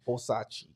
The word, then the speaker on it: Versace: Nigga ain't never owned Versace in his life. Nigga don't even know how to spell. Nigga still pronounce it Versace.